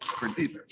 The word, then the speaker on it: Creditas: Like tortillas or something. Creditas.